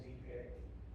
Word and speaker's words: ipe: those things on Streamway Park, they all use Ipe, Okay. which is a Brazilian hardwood, South American hardwood. Spelled like the, Yeah.